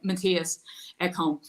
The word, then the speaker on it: Matthias Ekholm: Sorry, Matthias Ekholm.